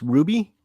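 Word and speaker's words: RWBY: DC, and I believe it's pronounced Ruby.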